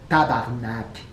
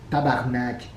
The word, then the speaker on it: tabarnak: Il faut prononcer vraiment le mot comme ça, tabarnak. Tabarnak. C'est comme ça que ça se dit.